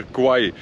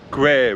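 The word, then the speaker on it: Khwae: fact about this River it's not really pronounced the river Kauai it's pronounced the river gray with the air sound as in square foreign that you're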